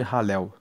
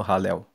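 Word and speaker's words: Hallel: Esses cinco salmos formam o chamado grande ralel. Ralel se escreve H a L l e l e significa louvar a Deus.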